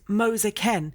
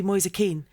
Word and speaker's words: Moise Kean: I got told is it not Keane? it was Moser Ken Yeah. because it's a version of Moses All right. with a different pronunciation, and Ken was just how they pronounced it. But then he's come here and said, no, I'm happy to be Moise Keane.